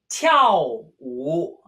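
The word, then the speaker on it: 跳舞: Tiao wu. Tiao wu. Literally to jump a dance. Tiao wu.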